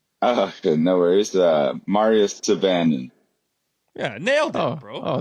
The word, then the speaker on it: Syvanen: What's What's the correct pronunciation? Okay, no worries. Uh, Mario Saban.